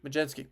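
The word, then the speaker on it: Mlodzinski: He's had an Majinski. Majensky.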